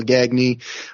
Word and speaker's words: Gagne: is how you spell gagne in Canada we would say it the right way we would say gagne